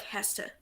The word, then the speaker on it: Hesse: Oh, it's more like Hesse.